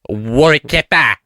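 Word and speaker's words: Warrick Capper: So we walked in and uh much to our elation there was uh Warrick Kappa doing a live recording his podcast. Say it. Say it. Say it properly. War kappa.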